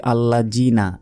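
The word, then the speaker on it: الذين: আল্লাযীনা হুম আন সালাতিহিম সাহুন, আল্লাযীনা, আমরা অনেকে বলি আল্লাযীনা, এটা ভুল, জাল আছে এখানে, জিহ্বা বের করে উচ্চারণ হবে এবং 1 সেকেন্ড টান হবে।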